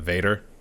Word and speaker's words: Vater: the Vaters. Yeah. I think in German it's pronounced Vater, but I've heard some people say like along the lines of Vader or something like that.